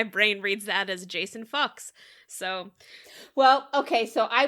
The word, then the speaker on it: Fuchs: whose last name was Fuchs, and that I had just now pronounced it correctly. Finally, Fuchs. You know, the S is silent.